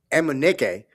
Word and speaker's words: Emenike: And then Brian Emenike, and yes, that is how you pronounce his last name, with 3 first half threes, which was a big lift for that team.